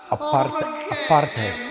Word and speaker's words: apartheid: When the whole apartheid, we pronounce it apartheid.